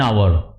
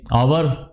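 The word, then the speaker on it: hour: for example student come after an आवर अब student यहां पे क्या आ गया ये आवर ह की आवाज नहीं आ रही तो क्या लगा एन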